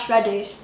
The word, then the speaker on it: Shreddies: Yeah, that's Shreddies. Correct. It rhymes with Freddies.